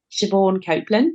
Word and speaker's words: Siobhan Copland: me and it's just my name shabor Copeland so s i o b h silent b h a n c o p l a n d and also you can